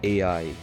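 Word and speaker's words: 愛: behind G's tattoo well the symbol is pronounced AI which means love representing a demon loving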